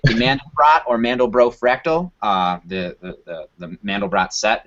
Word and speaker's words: Mandelbrot: A good way to summarize it is, the Mandelbrot fractal, which I've heard is pronounced Mandelbro, was the guy's last name, which is great to me.